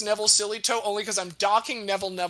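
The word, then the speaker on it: Sillitoe: and field coach by the name of Neville Sillytoe. That last name is spelled S-I-L-L-I-T-O-E, Neville Sillytoe.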